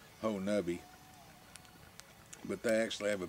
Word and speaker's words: Honobia: woods so they say there's a town called honi which is spelled honobia but somehow it come to be pronounced Hui but they actually have a Bigfoot Festival every